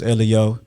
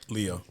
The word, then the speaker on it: L.E.O: you said name is elliot it's three letters pronounce the letters that's the tag one pronounce the letters a lot of people they see elliot the first thing they say is leo right right so